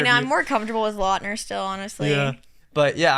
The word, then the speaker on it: Lautner: I keep saying his name wrong. We literally opened the podcast with confirming that he goes by Lautner, and then I kept calling him Lautner the whole entire interview.